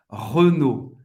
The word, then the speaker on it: Renault: Renault em francês é Renault. Renault. O E fechado, Renault. A-U em francês tem o som do O. É o e T não vai ser pronunciado. Renault. Duas sílabas.